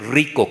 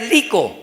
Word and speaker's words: rico: dice ay muy rico hay que decir rico con r sí pero algunos dice